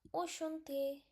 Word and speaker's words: enchanté: So, these are the simple accents. So, it become Enchanté. Enchanté.